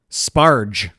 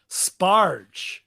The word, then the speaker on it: sparge: Sparge. Sparge. Jesus. Rhymes with Marge.